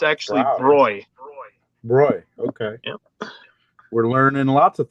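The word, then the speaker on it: bräu: a yeah a lot of people think that's pronounced brow but it's actually roy okay we're learning lots of things tonight roy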